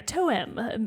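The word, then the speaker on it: TOEM: tome spelled t-o-e-m so not like the traditional tome book spelling like yeah toe-em that's probably how it's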